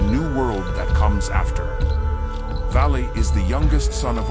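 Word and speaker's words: Váli: another Survivor of Ragnarok if you're wondering about pronunciation use the English word Valley and you're most of the way there bragi is the learned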